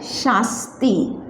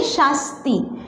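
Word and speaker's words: শাস্তি: जिसे बांग्ला में बोलते हैं शास्ती। क्या बोलेंगे? शास्ती। देखिए यहाँ पे बड़ा श वाला उच्चारण होगा और यहाँ पे छोटा सा वाला, शास्ती।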